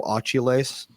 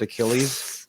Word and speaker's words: Achilles: it was the guy who said mythological hero Ailes when he meant Achilles AES pronouncing it wrong they said nope you don't